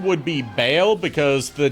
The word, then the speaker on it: Baal: Yeah, And, Bale or Baal, depending on how you pronounce it. The proper pronunciation would be Baal because the name before later Christian denominations decided that Baal was a demon.